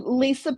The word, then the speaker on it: Lysa: say that I am Lysa with a Y, a WHY. Just kind of helps people remember. It's like, yes, my name is pronounced normally, it's just spelled Right.